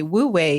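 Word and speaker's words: wu wei: which by the way Wu way is spelled w-u-w-e-i but it conveniently sounds like the word w-a-y way in English because it is about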